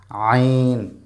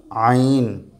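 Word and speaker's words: ع: আইন এসে বল আইন বলন আবার আমার দিকে আইন একটু শোনাও সবাইকে আইন সে নাও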